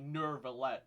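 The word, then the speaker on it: Neuvillette: And also, some of the Melazines also say Nervillette instead of Nuvillette. It feels like Farina might have actually picked up the pronunciation from the Melazines instead of, like, humans. Because, all the humans refer to him as Nuvillette. But a lot of the Melazines say Nervillette.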